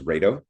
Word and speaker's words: Raido: But, um it's basically I would pronounce that as Raido. And then maybe Rio for the um Old Norse. But, that kind of look That's almost like radio.